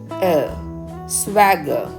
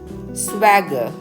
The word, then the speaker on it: swagger: for this word is Swagger Swagger R is silent here you should not pronounce the letter R so you should pronounce